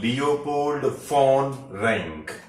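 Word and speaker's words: Leopold von Ranke: was leopold fawn rank again be very cautious about his pronunciation of his name he being german name was leopold phone rank okay now to take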